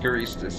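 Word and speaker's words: Guristas: There's an R in there. Gristus. Yeah, I I I I don't know. You're right. Gistas. Yeah. Gustas. Gistas is right.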